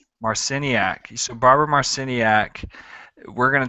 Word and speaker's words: Marciniak: Um, Barbara, how do you pronounce her last name? Marciniak. Marciniak.